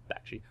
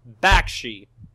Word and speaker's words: Bakshi: I think I pronounced it. Close. Bakshi. Directed by Ralph Bakshi.